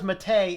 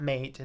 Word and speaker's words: MATE: according to the developers as far as Matei it is matei not not mate it is pronounced Matei that is the correct name and for all you